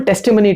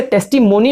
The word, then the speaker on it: testimony: तो fat body structure was an open टेस्टिमनी to this, है ना. इसे टेस्टिमोनी नहीं बोलना है बच्चों, इसे टेस्टिमनी बोलना है. That is the correct pronunciation.